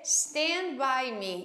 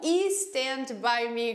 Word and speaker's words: Stand by Me: Começando, né, pela pronúncia, a gente vai dizer Stand By Me e não E Stand By Me, como todo mundo gostaria de dizer. Por quê? Porque não tem um I aí na frente, tá vendo?